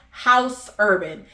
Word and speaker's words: Haus Urban: So I looked up body oils and I came across this brand called House Urban, and how it's spelled is Haus Urban.